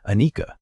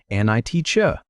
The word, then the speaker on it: anicca: The Pali word is anicca. Say it like an-i-cha.